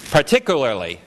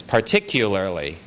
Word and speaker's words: particularly: So let me pronounce-- Let me pronounce what's here. Partic-oolarly, partic-oolarly. And what I'm saying is particularly. Can you hear the difference? Particoolarly, particularly-- there's a "ya" here. Particularly-- so, coo versus cue.